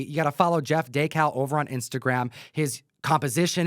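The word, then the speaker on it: Dekal: properly so that we can fix any incorrect pronunciations. Jeff DeCal. He'll prove it here. My name's Jeff DeCal.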